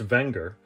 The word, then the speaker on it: Wenger: please stand by for history of anger technically pronounced wenger the company dates back to the late 1800s